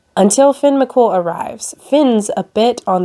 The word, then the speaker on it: Finn McCool: I'm pretty sure that's how you say it, right? It looks like Coomhale, but it's cool, right? Until Finn McCool arrives.